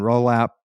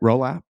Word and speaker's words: Rolapp: was Who is Brian Rolap? Did I say his name right? Rolap? Is that right? As far as I know, you said it correctly.